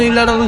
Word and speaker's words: Ella: বাস খুজতেছি ইল্লা দেবো আমরা বলি ইল্লা বাট এরা কেমন যেন ইল্লাটার উচ্চারণ করে এলাকা কেমনে জানো